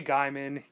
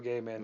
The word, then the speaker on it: Gaiman: it's okay to say Gaiman you don't need to say Guymon you don't need to say whatever you say it's Neil Gaiman as a PSA he